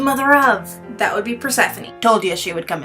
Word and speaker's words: Persephone: And yes, for all of you who didn't know, Persephone is pronounced Persephone, not Persephone.